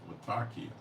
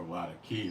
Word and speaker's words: Latakia: the Syrian Port of Latakia or Latakia depending how you want to pronounce it you can say how